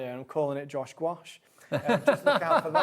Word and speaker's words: gouache: I I'm big fan of gouache. Yeah. Not just because it rhymes with my name, although if I do ever bring out my own, I'm calling it Josh gouache.